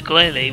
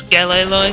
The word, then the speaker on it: Glalie: They evolve into Glalie, which I pronounce Galalie, because it sounds better in my opinion.